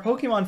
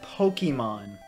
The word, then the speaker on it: Pokémon: been putting it off my pronunciation of Pokemon I always say Pokemon always have and probably always will the accurate pronunciation would be Pokemon because of the accent and how Japanese works in Pocket Monsters poke so I